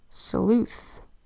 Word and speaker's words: sleuth: Sleuth.